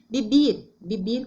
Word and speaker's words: vivir: Então, tem vivir com B. E la UB tem o sonido de B. Vivir. Se escreve com UB, pero la tonada B.